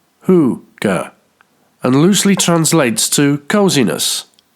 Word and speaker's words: hygge: Hygge, which is actually a word of Norwegian origin, is pronounced hoo-ga, and loosely translates to coziness.